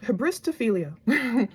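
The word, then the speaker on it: hybristophilia: Habristophilia, that's how you pronounce it.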